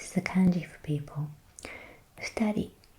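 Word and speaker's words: 二: the kanji for people, futari, 2 people. So in this example, this kanji is pronounced futa.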